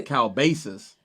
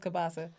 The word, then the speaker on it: kielbasa: I don't feel like that's how it's pronounced. It's not. I thought it was kielbasa. Kielbasa. Say kielbasa.